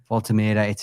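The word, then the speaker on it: Woltemade: I say Voltamada, some say Voltameda. It's one of those, until he tells us how to pronounce his name, I think you can find it several different ways.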